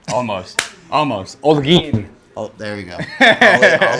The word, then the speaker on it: Olguin: This is the guy to come see, Double O, Appreciate Olguin. Did I get it right? Almost. Olguin.